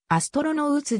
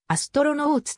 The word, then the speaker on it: アストロノーツ: レコード類ではアストロノウツであるが英語のアストロローとの最後の音節の発音は超ボインのアストロノートであり二重母音ではないため